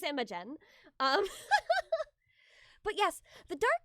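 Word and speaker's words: Imogen: I wanted to make sure I was pronouncing it right. It is Immigen.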